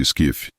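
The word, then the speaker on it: SCIF: informações confidenciais compartimentadas ou scsf em inglês pronuncia-se skif acessível somente por uma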